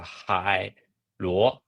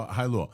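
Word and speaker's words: Hailuo: I will pronounce it as a Hai Luo. Hai means sea, and the Luo means share in Chinese. I see. Okay, so Hai Luo.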